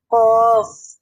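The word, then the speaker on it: ق: কফ।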